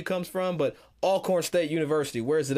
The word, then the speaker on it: Alcorn: more just for fun where is it spelled a l chord but i'm not gonna say it like that it's all corn i don't know where the w comes from but alcorn state university where is